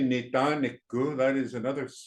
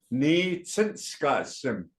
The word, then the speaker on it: Ni Tsinskasim: And you're not going to say Nitaniku. That's not the proper way of saying my name is. You'll say Ni Tsinskasim.